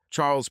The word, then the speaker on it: Charles: dear husband she replied Charles pronounced Charles in French looked like a typical